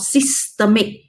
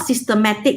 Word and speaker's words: systemic: So the second one is called systemic. Now, do you see this word? Systemic. Not systematic. A lot of students will do it wrongly, will say wrongly. They'll pronounce it as systematic, which is wrong.